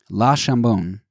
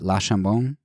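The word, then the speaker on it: Le Chambon: But, and that's particularly bad here because I heard that La Chambon is, if you say it wrong, which is easy to do for non-French speakers, that you're basically saying ham, and the town's name is not Ham.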